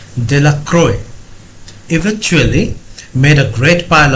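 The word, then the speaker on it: Delacroix: and Harry Jones and Dickie de la cried the villagers pronounced his name De La Croix eventually made a great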